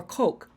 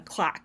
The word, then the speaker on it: Kolk: Van Der cloak or Coke Vander Coke I've always been saying a clock it's not clock it's k-o-l-k Coke that's vessel Van Der